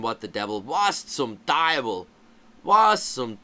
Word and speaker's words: Teufel: Now, there are some areas and regions that instead of having a W there in the word for devil, they'll have an F, and you'll hear it pronounced Teufel. Teufel or Teufel. It depends where you are regionally.